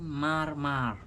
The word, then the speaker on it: Mar: So your mom used to call me Mar, pronounced like Mare.